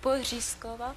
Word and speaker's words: Porizkova: Way you say it, I don't think you could pronounce it, but try Porizkova. Porizkova? No, Porizkova.